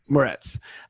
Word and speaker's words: Moretz: So it's with Chloe Grace how do you pronounce her last name? Moretz.